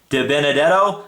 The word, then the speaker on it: DiBenedetto: And if you're a fan of Matt DiBenedetto.